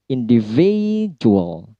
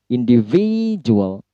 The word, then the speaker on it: individual: 5 syllable. Individual. V-nya. Petik stressnya. Individual.